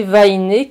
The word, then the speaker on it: Vahine: pseudo c'est Vaillé oui mais il y a pas d'accent sur le E c'est normal parce qu'en tahitien il n'y a pas d'accent parce qu'il n'y a pas de e tous les E se prononcent et donc il n'y